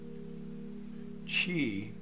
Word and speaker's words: Qi: fitness and health lifestyle Chi which is spelled Qi is the life force